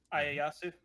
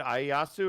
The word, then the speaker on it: Ieyasu: Ieyasu. Yeah. Is it Ieyasu?